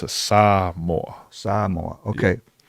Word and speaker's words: Samoa: Like, I always thought it was Samoa, but it's Samoa.